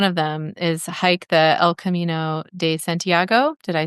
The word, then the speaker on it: El Camino de Santiago: things, but one of them is hike the El Camino de Santiago.